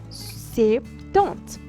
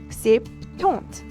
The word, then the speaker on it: septante: So French has actually two different way of pronouncing things. So the one that is directly rooted into Latin word, you will say septante, septante.